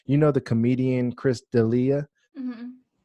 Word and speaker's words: D'Elia: You know the comedian Chris D'Elia? Mm-hmm. I might be saying his name wrong. It might be Delia or I think Delia. it's Dalia.